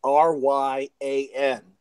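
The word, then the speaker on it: Rian: Just pretend the I is a Y. So if you see R-Y-A-N, what does that spell? R-Y-A-N, Ryan. That's how you pronounce his name. Okay. But instead, he's a little creative. It's an I instead of a Y.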